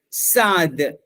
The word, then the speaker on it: Sa'd: Tapi kalau sin ain dal biasanya dia baca dengan Sa'd. Itu sebab kalau kita tengok Sa'd ibni Abi Waqqas, Sa'd